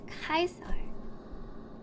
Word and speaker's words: Caesar: Caesar pronounced Kaiser.